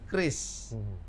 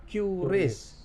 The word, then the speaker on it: QRIS: Harusnya yang benar Kris. Kris. Kris K. K ya. Tapi karena memang ini hurufnya depannya Q, karena kan QR kan dari Iya. bahasa Inggris, maka Q quick respond kan. Iya. Tapi kita sepakat ini dibacanya Kris.